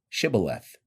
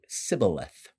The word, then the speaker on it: shibboleth: said they unto him say now shibboleth and he said sybileth for he could not frame to pronounce it right then they laid hold